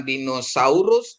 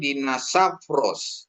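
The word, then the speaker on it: δεινόσαυρος: ya apgi i dinosa ya ini jadi f dia bukan dinosaurus tapi dinosafros itu ya okerafnos ya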